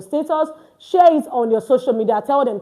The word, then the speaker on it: au: These are what we categorize as our prepositions in French. Okay, so now you see this au. Now, this au is pronounced o.